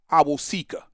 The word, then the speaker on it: Awosika: I don't care if Kyoto Owasika or Kyoto, I never could say his last name. His name is Kyoto Awosika. I got to make sure I pronounce that right.